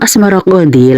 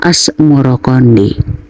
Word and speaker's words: Asmaroqandi: Sebutan itu mengikuti pengucapan lidah Jawa di dalam melafalkan Asmaroqandi yang kemudian berubah menjadi Asmoroqandi.